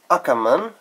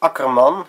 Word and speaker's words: Akkerman: here we go with aaman note the English pronunciation it is Akon in Dutch note the nice R Chinatown red I'll start